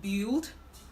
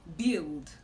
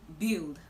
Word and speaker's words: build: Now, this word is commonly pronounced build, but the right way to pronounce this word is build. Build. Build. If you notice, it's just B-I-L-D. Build. The U in this word is silent.